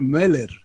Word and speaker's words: Möller: En alemán, esa O que tiene ahí con dos puntitos suena como una especie de E. Entonces el apellido tendría que ser Meller, una cosa así.